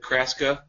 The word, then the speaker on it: Chrastka: The irony, Krista, is that Kraska rhymes with Chrastka? Nebraska.